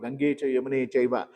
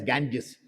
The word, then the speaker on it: Ganga: So that is why when you take the name of Ganga Krishna says here I am samasmi I'm the Ganga you see the ganga you can't call it as ganges gangas is the absurd or twisted word of